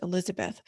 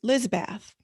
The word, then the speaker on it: Elizabeth: It's 4 syllables, 9 letters, Elizabeth. She would say Lizbeth.